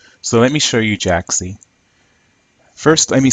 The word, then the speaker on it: Jaaxy: word is worth going for or not so Jack C which is spelled J a a X Y is web-based